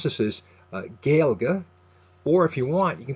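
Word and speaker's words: Gaeilge: Dong's page is a a so you can pronounce this as gilga or if you want you can put a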